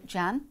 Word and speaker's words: Can: side is his son Jan yeah that in Turkish pronounced can C an he's called Jan and then next to